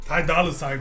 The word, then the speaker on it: Ty Dolla $ign: Ty Dolla ign, bro.